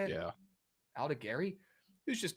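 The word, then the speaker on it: Aldegheri: guy who's going to be opening today in Aldegari. Is that how you say it? Yeah. Aldegari, who's just not a good pitcher, respectfully.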